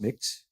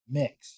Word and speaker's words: Mx: I do not it's it's MX but it's pronounced mix mix yeah but then so